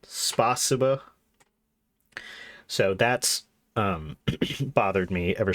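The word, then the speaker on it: спасибо: Yeah, so it's the emphasis is on the C, spasiba, not spasiba.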